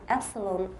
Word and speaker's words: epsilon: know you're having trouble you're putting a velar there you're saying long epsilon you're saying India you